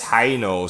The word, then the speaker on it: Heino: It's really funny because one of my cousins married a French guy, and my brother, his name is Heino, so it starts with a really hard H, I'll take care of this.